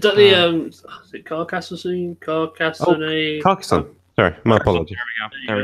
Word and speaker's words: Carcassonne: I don't know how to pronounce it. Is that is it Carcassonne? Carcassonne? Carcassonne.